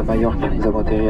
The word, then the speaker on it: Majorque: Mais que je crois que je suis à peu près bien la seule à le prononcer comme il faut, donc c'est pas grave. Hein. Majorque.